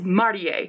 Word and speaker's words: Marie: to pronounce tough but her name is not Marie its Marty a it's not Marie that's an English name she's Japanese and it's